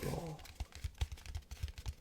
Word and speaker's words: Blanc: I've been told you don't pronounce the T or the C. Mont Blanc.